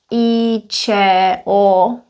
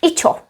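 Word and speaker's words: IČO: I wrote in red we could read them as E C O but in common speech because these are so frequent we would actually read them as a word so this would be I C O I C O it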